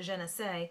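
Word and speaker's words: Janece: I personally don't like Janice, and my father actually pronounces it Jeunesse.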